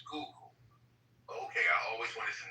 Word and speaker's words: Schuylkill: Is the name, how do you pronounce the name of the river? Is it the Schuylkill River? Schuylkill.